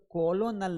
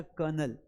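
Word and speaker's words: colonel: तो कोलोनल नहीं है बेटा। लिखा जाएगा कोनोलल लेकिन पढ़ा जाएगा कर्नल। क्या पढ़ा जाएगा? कर्नल। आर को भी साउंड नहीं करना है। अंग्रेजी में आर तो उच्चारित होता ही नहीं है। तो इसे हम पढ़ेंगे कर्नल।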